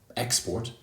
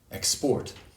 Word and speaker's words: export: yellow handsome dancer also for words that can be used as both verbs and nouns for example export export the noun has stress on the first syllable export and the verb tends to have stress on the second syllable export so for example uh